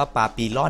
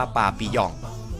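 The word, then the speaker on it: papillon: ครับ อันดับ 8 ปาปิยอง แม่ ถ้า อ่าน เป็น ภาษา อังกฤษ นี่ ก็ จะ อ่าน ว่า ปาปิลอน นะ ครับ แต่ ว่า มัน เป็น ภาษา ฝรั่งเศส นะ ครับ อ่าน ว่า ปาปิยอง ใน ภาษา ฝรั่งเศส นั้น ก็ หมาย ถึง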